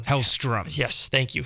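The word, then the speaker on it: Hellstrom: and whatnot it looks like Ghost Rider and hailstorm are gonna be featured in some horror line that they're gonna have there could be other characters and what is he'll storm and attack I said it wrong hellström yes thank you how strum and I think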